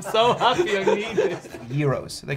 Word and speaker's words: gyros: Gyros. They call it Gyros. Gyros, yeah, so the G is pronounced Y.